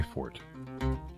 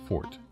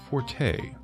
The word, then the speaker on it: forte: word games are my fort and yes i said fort to rhyme with snort like snorts of derision for those who say that the word should be pronounced forte yes that is a